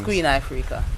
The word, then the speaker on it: Queen Ifrica: in Australia, we don't know often how to pronounce things. It's Queen Ifrica.